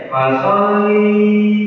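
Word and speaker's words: فَصَلِّ: inat yang kedua banyak orang yang membaca fasolinnya dengan man fiki dipanjangkan ini nanti karena tidak ada mad di dalamnya bacanya enggak boleh dipanjangkan ya. Jadi kebanyakan bacanya fasolli lirabbika. Jadi enggak boleh di panjangkan karena tidak ada tanda mad di situ.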